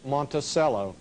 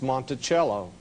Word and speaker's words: Monticello: A lot of people call the name Monticello. Actually, the correct pronunciation is Monticello. Monticello, two French words.